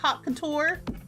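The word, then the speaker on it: haute couture: So, it's hot spelled like al couture. Hot couture. Like high fashion.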